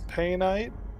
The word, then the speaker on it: painite: some monsight or some surrender bite or some painite that's how it's pronounced um and whatever this is alexandrite um